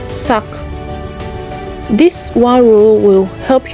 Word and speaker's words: sac: So it's pronounced sack.